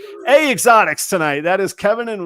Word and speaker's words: EH Xotics: if you're not Canadian how you pronounce eh is a simple simple vowel that's a that's how they spell a a Exotics tonight that is Kevin